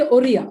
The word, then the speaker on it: Ora: this particular word so it's basically Ora Ora it is not Oro it is Ora Ora so it's Ora it's